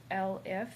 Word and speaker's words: elif: I also am adding in this elif, that's how it's pronounced.